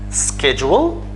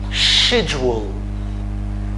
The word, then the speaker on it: schedule: say it like this schedule we can also say it in another way we can say schedule sh sh so we have two ways to say this word first we can say schedule